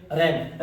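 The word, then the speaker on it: reign: रेन। रेन मतलब होता है शासन। ये क्या लिखा है? GH साइलेंट की सीरीज देखते हैं।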